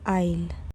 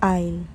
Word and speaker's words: aisle: No. Say aisle. The A and S are completely silent. It's aisle.